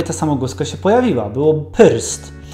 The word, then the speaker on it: prst: Czyli przed R trzeba było wymówić coś takiego jak polskie y. I dzieje się tak zawsze, kiedy to R jest wciśnięte między dwie inne spółgłoski. Wtedy właśnie przed ry wymawiamy y. Tak jak właśnie prst.